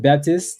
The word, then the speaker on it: Baptiste: Okay, well, KB, your last name is Baptiste, French. You still pronounce it Baptiste, so people don't be caring.